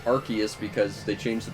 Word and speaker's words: Arceus: where someone corrected me on and said it's arceus because they changed the pronunciation because they don't want arse in its